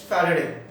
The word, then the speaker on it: Faraday: फराडे बोलो या फैराडे बोलो, बट the correct pronunciation is फैराडे।